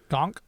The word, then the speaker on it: Gonk: How do you say gunk again? Gonk. Gunk. Okay. Gonk. Say it like that.